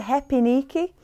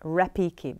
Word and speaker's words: repique: You say a H sound like a H at the beginning, but you spell it with an R, like repique, because in Brazil, when you have an R at the beginning, it sounds like a H, so we say repique.